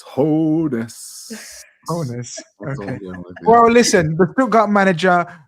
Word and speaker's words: Hoeneß: Pronunciation. Yeah. Keith. It's Hoeneß.